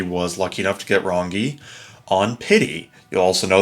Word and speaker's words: Rangi: lucky enough to get rongi on pity you'll also know that I was calling her ranji turns out hard G it's a Ron rongi yeah so not my